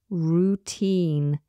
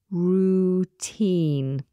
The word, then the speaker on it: routine: Routine. We spell this R-O-U-T-I-N-E. Routine. make sure that you're pronouncing that first vowel as oo, not row.